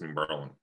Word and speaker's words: New Berlin: It's New Berlin. It's New like Berlin. You don't pronounce the I. It's just LN. That's just how you need to pronounce it.